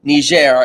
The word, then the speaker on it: Niger: it spelled differently, but it is a soft G, not a hard G. So everyone just make sure you know that. Niger is an African country in between Nigeria and Libya.